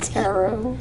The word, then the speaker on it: tarot: about a Caro and Tarot it's used as a divination tarot carrot carrot I'm just trying to just trying to remember figure out how to remember to this pronounce tarot right yeah okay good okay